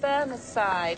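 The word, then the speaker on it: Bemersyde: family seat, and I'm sorry, I don't know how this is pronounced, Burneside, joined the grounds of the ruined abbey. Oh, so right. that's the Laird of Bermerside, or the fighting Right.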